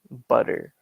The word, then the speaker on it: butter: butter we have that it's spelled with two t's and a lot of words that have two t's in american english we often have a d noise butter like that but in british english butter butter and then